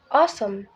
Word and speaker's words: awesome: it's purple not purple awesome and this adjective the first syllable o is is stress so we say it awesome not oh perfect here the first